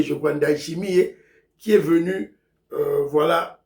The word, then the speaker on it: Ndayishimiye: L'activité principale, c'est la visite officielle du président burundais, Ndayishimiye, prononcer comme on a été, Ndayishimiye, je crois, Ndayishimiye, qui est venu, voilà, à Kinshasa, en visite officielle, apparemment, de 2 jours.